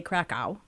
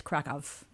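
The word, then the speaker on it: Kraków: V's oh okay yeah so even like CRA people we say krao it's kov COV yeah ends in in the W's are pronounced like a V that's about all I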